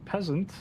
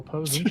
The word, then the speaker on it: Posant: It looks like we're gonna be having Will, as I mistakenly called him the first time I ever said his name, Peasant. Will Posant, I believe is the actual pronunciation here, because I was just memeing on him that first time.